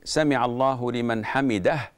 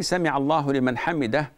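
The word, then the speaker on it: سمع الله لمن حمده: the imam, after saying Sami'a Allahu liman hamidah, he doesn't say it correctly. He says Sami'a Allahu liman hamid.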